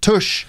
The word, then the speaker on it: tush: But tush is more easy. like push, just tush.